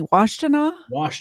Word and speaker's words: Washtenaw: Washtenaw County.